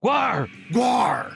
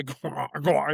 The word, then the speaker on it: GWAR: get into Gwar the don't you have to say it with a growl? Isn't that the the the actual pronunciation? I don't Yeah, Gwar Gwar. Yeah, like a pirate almost. Except an angry pirate from Antarctica that GWAR SINGS.